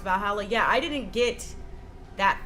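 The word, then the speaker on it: VA-11 Hall-A: I didn't get V4 Hala, pronounced Valhalla.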